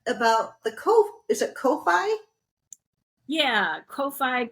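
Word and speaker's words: Ko-fi: tell me then about the co is it Kofi yeah Kofi coffee I don't know everybody pron oh okay yeah I didn't know how to pronounce it oh coffee I like coffee all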